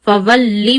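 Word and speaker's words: فولّ: Fawalli wajhaka. Put a stress on lam, fawalli.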